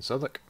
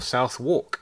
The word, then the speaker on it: Southwark: well then well then we're in southwark yeah we are um or south walk if you would like to say it wrong bloody diary okay